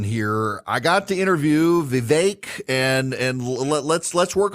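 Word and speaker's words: Vivek: like I've been saying Vivic uh it's not Vivic uh it's rhymed with cake so Viv vi vi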